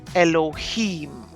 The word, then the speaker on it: Elohim: And that one we pronounce as Elohim.